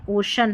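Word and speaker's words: ocean: ओशियन में यहां पर ओ यह जो ओशियन है इसका देख उच्चारण ओशन है।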